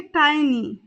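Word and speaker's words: tiny: इसे इंग्लिश में कहेंगे टाइनी टाइनी कई जगह इसे टिनी भी बोल दिया जाता है तो टिनी और टाइनी दोनों ही प्रोनंसिएशन इसके लिए ठीक है साथी कलीग यानी कि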